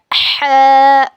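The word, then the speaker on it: ح: हल्लक के बीच के हिस्से से ह अदा होता है और इसको अदा करते वक्त मुंह से हवा बाहर निकलती है। इट is pronounced from the middle part of your throat when you pronounce it the wind should come out of your mouth.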